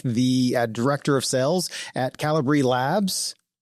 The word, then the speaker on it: Kalibri: Some people say Calibri, but it is Calibri.